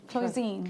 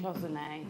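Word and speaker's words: cloisonné: Cloisine. Cloisonne. Cloisonne. Cloisonne. Is that cloisonne, Gemma? No, it's cloisonne, darling.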